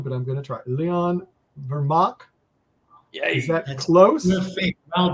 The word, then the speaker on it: Leon Vermaak: Leon Vermaak.